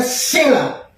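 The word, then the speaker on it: צלע: Nah, tapi kalau di dalam yang kita baca tadi, tulang rusuk di bahasa ini Ibraninya adalah sela. T-S-E-L-A. Sela. T-sela. Jadi bacanya sela.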